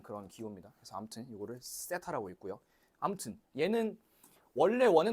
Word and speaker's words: 세타: 더타 아니고요. 세타. 세 아니야. 때 아니야. 세랑 때 중간 사이. 세타. 세타. 그래서 요거는 번데기 모양. 이렇게. 그래서 요거는 이제 각도를 나타내는 그런 기호입니다. 그래서 아무튼 요거를 세타라고 읽고요.